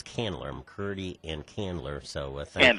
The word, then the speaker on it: Candler: And and I got that name wrong. It's Canler.